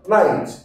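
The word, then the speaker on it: knight: ধরনের সৈন্য ঠিক আছে তো এখানে কে এর উচ্চারণ হবে না কি বলবো নাইট নাইট নাইট তারপর আছে কে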